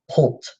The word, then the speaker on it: poult: and it is called poult similar to the word plot but switch the O'Neill poult chars classification organism